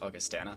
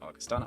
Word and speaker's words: Augustana: here at NECC that it is pronounced Augustana not Augustana apologies for that for